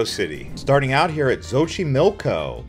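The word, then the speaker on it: Xochimilco: starting out here at zoi milco the x is pronounced like a sh it's essentially a floing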